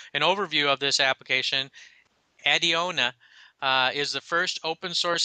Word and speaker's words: Adeona: Adiona.